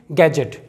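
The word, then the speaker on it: gadget: गैजेट, इसे गैजेट नहीं पढ़ेंगे, इसे पढ़ेंगे गैजेट।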